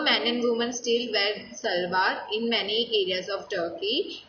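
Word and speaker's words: şalvar: Turkish salwar, pronounced salwar.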